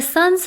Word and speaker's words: sun's: and it tells me pronounce the S here with a Z sound, as in zero and buzz.